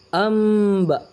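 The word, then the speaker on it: أنباء: Cara membacanya iqlab, cara membacanya merubah huruf nun an menjadi huruf am. Yang tadinya tulisannya anba jadi amba, menggantikan.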